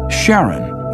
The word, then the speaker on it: Charon: in Greek mythology but preferred to pronounce it Charon more like his wife's name Charlene from the motions of